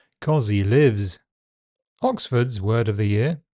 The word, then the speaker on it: cozzie livs: Cozzie Lives is Australian Dictionary Macquarie's Word of the Year. Although the spelling mixes S and Z, the pronunciation is two voiced Z sounds. Cozzie Lives.